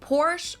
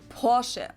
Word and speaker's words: Porsche: I've heard Americans pronounce it Porsche or Porsche. In German, we say Porsche. So there's like this short A sound in the end.